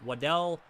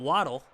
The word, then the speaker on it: Waddell: Waddell, I'm pretty sure I'd say his name. Waddell? It's not Waddle, because obviously there's only one D.